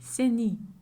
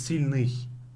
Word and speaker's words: сильный: Because when I say it, this is how it sounds. Say сильный. Sini. See, сильный. It's сильный. See?